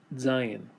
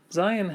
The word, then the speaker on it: Zayin: Zayin has a sound mostly like the letter Z in English. Sometimes you can hear people pronounce it with a DZ sound, Zayin. But pronouncing it with a Z sound is just fine.